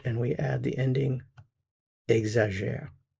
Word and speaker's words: exagère: Il, elle, on, we have our root, and we add the ending, exagère. So we have exagère, exagère, exagère. Same pronunciation of these three.